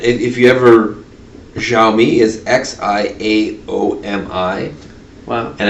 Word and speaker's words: Xiaomi: right yeah and if you ever xiaomi is x i a o m i wow and it's like xiaomi yeah xiaomi is how it's pronounced yeah but so but xiaomi is there